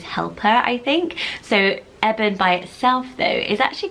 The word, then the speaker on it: Evan: is really really trendy sounds a bit like Evan some people may pronounce it even but I think their correct pronunciation is Evan because it's shortened form